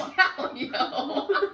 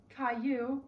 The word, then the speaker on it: Caillou: These songs are SpongeBob, the theme song, Caillou theme song, This Little is Calio. What? That's Caillou.